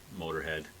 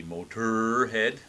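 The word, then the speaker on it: Motörhead: Lemmy has been quoted as saying he just thought it looked mean, so hence the omlauts over the second O, but it doesn't change the pronunciation.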